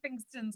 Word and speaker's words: Pfingstens: For the Well, next there aren't many Katie Pfingstens with a silent P out there.